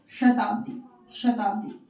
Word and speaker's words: शताब्दी: तालु से इसका उच्चारण करना है। इस श का उच्चारण करते हुए इन शब्दों को पढ़ना है, जैसे शताब्दी, शिरोमणि, शिक्षा, राशि, ईश, शिव, शुद्ध।